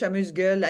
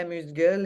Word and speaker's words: amuse-gueule: A little, how do you pronounce that with the French accent? Amuse-bouche. Amuse-bouche, amuse-gueule. In Quebec, we say amuse-gueule, and yeah, probably in Okay. France, they say amuse-bouche.